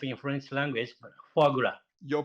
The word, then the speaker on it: foie gras: I don't know how to pronounce in French language, but foie gras. Your pronunciation is very good, foie gras.